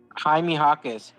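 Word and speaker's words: Jaime Jaquez: you say his name Hae hakz Hae hakz oh ha hakz yeah yeah replace the J with an H yeah this guy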